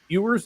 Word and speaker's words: Ewers: I believe it was Ewers is how you say his name for Texas.